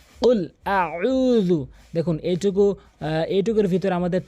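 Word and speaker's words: قُلْ: তো আসুন, এখানে উল বলতে হবে, উল জিব্বার গোড়া উপরে তালুতে লাগাতে হবে, কফ কফ এভাবে ধাক্কা দিয়ে উচ্চারণ করতে হবে। উল, কুল বলবেন না কখনোই, কুল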